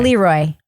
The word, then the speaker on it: Le Roy: it is right it's people who were trying to be fancy calling it looy right no I'm going with looy have you seen how it's spelled h yeah how's it spelled how is it spelled l e space r o y Leroy it's two words L Roy doesn't matter Leroy Leroy yeah I'm with I'm down